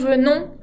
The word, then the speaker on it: venons: Nous venons tampoco se pronuncia esa S final que tiene la terminación.